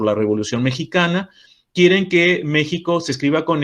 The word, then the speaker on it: México: partir de aquel momento méxico se escribiría con x pero la pronunciación continúa siendo la pronunciación actual de esta letra que sería j esto ocurre con algunos